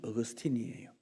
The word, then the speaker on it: 어거스틴: 어거스틴은 아우구스티누스라는 사람의 영어식 발음이 어거스틴이에요. 이 사람은 주후 350년경부터 살았던 사람이니까 지금부터 한 1600년 전 시대 사람입니다.